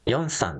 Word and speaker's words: 龍山: 今夜のホテルは龍山と書いて四山と読むのですが